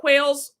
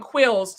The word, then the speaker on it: Quills: So y'all, do you see y'all see what Quails, I'm saying your name wrong. Quills.